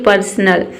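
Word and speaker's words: personal: Word के अंत में अगर AL दिखे तो उसे अल पढ़ना है। देखिए अल जो है, यहाँ पे जो अ है, इसको आपको ये समझना है कि ये साइलेंट ही रहता है, ठीक है, यानी कि ये जो अ है इसके पहले जो लेटर रहेगा उसमें जुड़ जाता है, और केवल हम ल ही प्रोनाउंस करेंगे।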